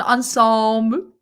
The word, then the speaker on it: ensemble: was served a delightful ensemble. Do you know what I mean? An ensemble. Ensemble. You got the French pronunciation.